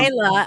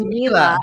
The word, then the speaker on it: Mila: Myla or It's Mila. It's okay. I know a lot of people say Myla, but it's Mila.